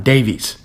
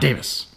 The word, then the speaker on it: Davies: When you put those letters together, it is an E sound, not a short I sound. Alan Davies. Not Davis.